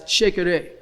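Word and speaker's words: shekere: that are our mother this instrument is known as sheikah take the word shaker and put the syllable ray on the end and it's it's a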